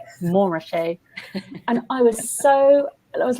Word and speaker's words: Montrachet: It was a Burgundy specialist, and he said, "I think you'll find it's pronounced Montrachet."